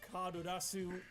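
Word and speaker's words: Carddass: Okay, I know it's pronounced like Kadurasu in Japanese, but when they spell it out in English, it's just Card-Ass. You cannot unsee it.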